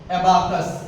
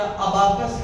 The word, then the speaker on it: एबाकस: गई जिसको कहा गया एबाकस। क्या नाम था? एबाकस या अबाकस कह सकते हो, लेकिन पढ़ने में थोड़ा अच्छा नहीं लगेगा, तो एबाकस, ठीक। हाँ, एबाकस, एबाकस, एबाकस।